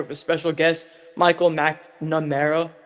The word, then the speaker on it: McNamara: I'm here with a special guest, Micheal McNamara. How are you doing today? Hey, good pronunciation.